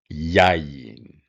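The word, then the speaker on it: יין: Notice the emphasis marks here, by the way. I didn't point this out up here, but this tells you that your accent is on the first syllable rather than the last one, which is normal.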